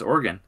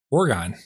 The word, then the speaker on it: Oregon: I did not also know that's how you pronounce Oregon. Oregon.